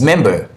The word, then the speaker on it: member: And we break it into the component syllables, and we have mem and ba, mem and ba. So where do we have the stress syllable? The first, okay? Since it's two syllable, the first syllable, that's where we normally have the stress syllable. That's mem, mem, that's the syllable. Member, member, member.